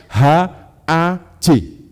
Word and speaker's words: haj: Apa yang dilakukan oleh orang-orang Yahudi diaspora ketika mereka berkumpul di Yerusalem itu ditulis dengan tulisan HAJ. Bacanya apa Bapak Ibu? Haj. Itu bahasa Ibrani Bapak Ibu.